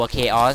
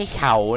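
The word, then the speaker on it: Chaos: ละ ตัว มี ตัว เคออส นะ ตัว นี้ อ่าน ว่า เคอ Elemental นะ ครับ ไม่ ใช่ เฉา นะ ครับ อย่าง ที่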